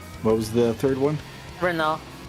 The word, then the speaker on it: Renault: Renault. Yeah, you got it. That's You 3. with your proper French pronunciation.